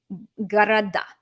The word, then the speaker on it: города: It's all about the word stress. They look the same. They have different word stresses. So if it's pronounced, if you're wanting to say cities, I love big cities, and there's no genitive needed, города, города. Good.